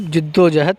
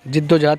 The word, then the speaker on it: जिद्दोजहद: ईमानदार बनो और खूब जिद्दोजहद करो। जिद्दोजहद का सही प्रोनाउंसिएशन जिद्दोजहद है। जद्दोजहद नहीं पढ़ेंगे, उसको जिद्दोजहद पढ़ेंगे।